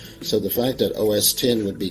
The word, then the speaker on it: OS X: pronunciation it's actually said os10 because of the fact that it is the 10th operating system developed by The Firm X is just a Roman numeral that means 10 which could be part